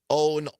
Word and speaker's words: OAN: We're talking about OWN, One America News, which goes by OAN. They pronounce it OWN.